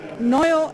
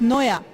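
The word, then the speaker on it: Nwoya: It's Gulu, Oyam, Noyo, and Kiriandongo. I think I mispronounced. It's Noya, actually.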